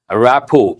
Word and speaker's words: rapport: Let us go to rapport. Here, T is silent. An important word goes with the workplace. Usually at the workplace, we use this word, a rapport.